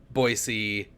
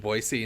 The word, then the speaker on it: Boise: As like an 18-year-old, people just do not pronounce it Boise. They pronounce it Boise outside of the city, or outside of like that area, I guess, because there's